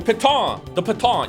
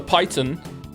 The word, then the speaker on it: piton: That mouse made fun of me for not pronouncing properly because it's a French word. The piton. You can have more pitons. Or as I said, the python.